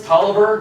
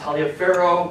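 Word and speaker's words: Taliaferro: these two places um Lawrence Toliver not Talia Farrow but he's a Virginian who pronounce the Toliver for some reason he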